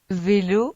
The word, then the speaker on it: vélo: Por fin, el V se pronuncia. v, Es como la palabra inglesa. very, Para pronunciarla se unen los labios con los dientes como para decir una F, pero el sonido vibra.